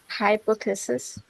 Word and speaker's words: hypothesis: আর যদি হাইপোথিসিস হয়, হাইপোথিসিস হলে Hypothesis.